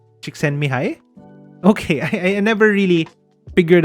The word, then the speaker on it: Csikszentmihalyi: Really? That's how you pronounce it? Csikszentmihalyi?